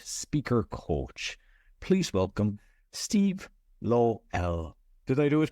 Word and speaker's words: Lowell: Well, I pronounce it Lowell. Folks in Europe pronounce it Lowell, and folks down in New Zealand pronounce it Lowell. So all are acceptable.